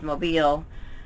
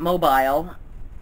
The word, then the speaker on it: Mobile: world that don't know that Mobile Alabama is pronounced mobile not mobile but how did it